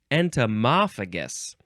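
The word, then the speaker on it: entomophagous: But there's an example, entomophagus? Entomophagus. Let's see. The word's right here. I can look at the actual pronunciation. Entomophagus.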